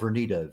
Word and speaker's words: Vernita: Well, okay, again, Queen Vernita, Queen, just the way it's spelled, Vernita, Vernita.